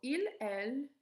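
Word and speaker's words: ils: in the semester so il okay so not pronounce the s in here so il is for men ill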